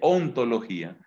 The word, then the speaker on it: ontología: ente entonces hemos hecho ente logía que no se dice a sí sí nos dice ontología hemos dicho ontología pero